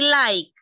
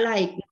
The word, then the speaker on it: like: verbo Elvia escúchame di like like playa ya verbo Buscar no se pronuncia Li ya Elvia se pronuncia like ok En este caso